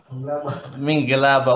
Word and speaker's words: Mingalaba: Can someone from Myanmar teach us properly to pronounce that? Only one person. Say it again. Mingalaba. What does that mean? Hello. It means hello.